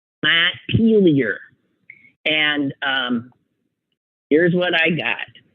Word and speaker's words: Montpelier: Most common pronunciation is Montpelier. Montpelier. So I was wrong too. Montpelier is how Vermonters pronounce it. Montpelier. He says, I agree that Montpelier is somewhat common, but I think Montpelier is definitely the variation most often used here.